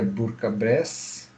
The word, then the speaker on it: Bourg-en-Bresse: A pronúncia do nome, na curiosidade, é Bourg-en-Bresse ou simplesmente Bourg.